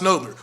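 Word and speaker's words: Nadler: But like we've been pronouncing that street wrong from the jump. It really should be pronounced Nodler. We all in this room will say Needler when we see the street name, and I do not know why.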